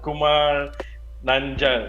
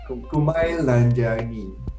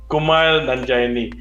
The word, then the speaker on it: Kumail Nanjiani: It's Kumar Nanja. It's very hard to pronounce his name. Kumail Nanjiani. Kumail Nanjiani.